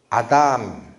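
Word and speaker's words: אדם: 사람 이름을 히브리어는 이렇게 읽어갑니다. 아담. 발음이 아담. 아, 아담이 사람이란 뜻이에요.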